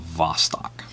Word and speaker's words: Vostok: Russian spelling with a beat but it is pronounced with Vostok and then you can see you know everything's